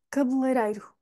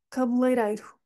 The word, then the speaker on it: cabeleireiro: vamos ter leii lirei mas o foco lá está é no Rei cabeleireiro cabeleireiro Esta palavra também é